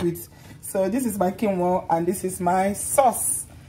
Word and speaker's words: quinoa: Cunion. What's it called again? How's it pronounced again? Cunion. Cunion. This is a cunion. Quinoa. No, it's quinoa.